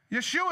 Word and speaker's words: Yeshua: and now they're shouting Yeshua has been born which is Jesus's Hebrew pronunciation of his name or Joshua which is